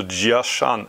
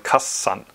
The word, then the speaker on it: Jiashan: Also Jiashan. Auf Japanisch sagt man Kassan.